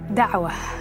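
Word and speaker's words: da'wah: Dawa is the way it's pronounced.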